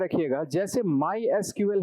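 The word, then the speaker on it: SQL: जैसे माय एसक्यूएल है और पोस्ट ग्री एसक्यूएल है और इसको कई जगह सीक्वल भी बोला जाता है। तो जैसा भी आप प्रोनाउंस करना चाहें।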